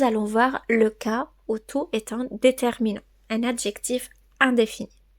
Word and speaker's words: toute: ou t se prononce tout au féminin singulier T ou T e se prononce toutes au masculin pluriel T ou s peut